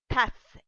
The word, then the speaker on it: tasse: like you want to say a cup, and you want to show that this cup is a female, so we have tas. You don't pronounce that e.